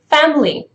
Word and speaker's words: family: gonna be family now family is the word for a slow speech but in the connected speech you would say family so the word is basically produced and there is no second vowel in there just say that family